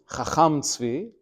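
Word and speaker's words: חכם צבי: Although you pronounce his name as a Sfardi, Chacham Tzvi, he himself was Ashkenazi, as his last name indicates, which is not always the case, by the way.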